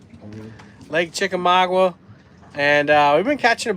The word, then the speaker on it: Chickamauga: Lake Chickamauga.